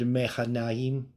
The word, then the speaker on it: Mahanaim: Now, Mahanaim, we also see this in the Song of Solomon. Right, so this is this word Mechanaim. It's how it would be pronounced.